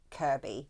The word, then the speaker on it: Kirkby: are things like um if it's spelled Kirkby it's it's said Kirby yeah you know just